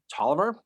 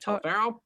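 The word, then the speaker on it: Taliaferro: command of a guy William to Tolliver not T faroh I know I was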